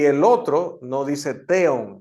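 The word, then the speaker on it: θεόν: el otro no dice teon Ah Porque esa V es una n en realidad no transitándolo ver que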